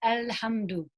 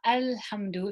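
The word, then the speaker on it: الحمد: we recite surah fatiha we say l-hamdu okay it's not al hamdu if you look at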